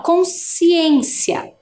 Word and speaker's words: consciência: repetir lá ó consciência o SC parece que faz só o som do S né ó consciência É também um dígrafo